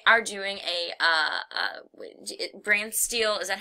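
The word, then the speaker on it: BrantSteele: can see we are doing a uh uh brand steel is that how you pronounce it yes okay um a brand steel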